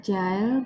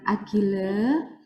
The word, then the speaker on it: Agile: scramb bukan scrum kemudian tadi Bacanya adalah jail bukan Agile Jadi mungkin teman-teman sudah